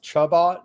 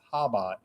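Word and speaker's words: Chabad: Uh because I always thought it was Chubot, but turns out C's silent there.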